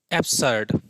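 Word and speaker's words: absurd: तो आज का वर्ड हमारा है एब्सर्ड। इट्स एब्सर्ड। ठीक है? एब्सर्ड। आर को यहां पे थोड़ा सा साइलेंट करके पढ़िएगा तो आराम से निकलेगा इसका प्रोनंसिएशन। एब्सर्ड।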